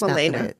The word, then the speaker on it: Melania: So her name is spelled like it's Melania. And so I have to type it out in the way it's pronounced. Milena. Not the way it looks. Milena.